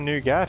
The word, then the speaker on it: nougat: in it nougat nougat nougat i don't know how to say it i think i think the tea is silent it's like it's like